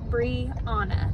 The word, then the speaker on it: Brianna: went ahead and put my full name in there which is brie anna that's how you pronounce it i am 27 years